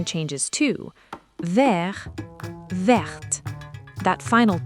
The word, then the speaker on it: verte: Une pomme verte. And notice it's not just the spelling that changes. The pronunciation changes, too. Vert verte. That final t becomes audible in the feminine. Listen again. Vert verte.